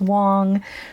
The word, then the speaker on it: Wang: I said Wang several times in this episode. I have since learned the correct pronunciation is Wong.